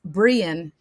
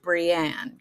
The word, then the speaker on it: Brian: So it's Brian, not to be confused with Brienne, because I said it wrong for at least the first 2 years. It's Brian. Brian. Don't say Brienne.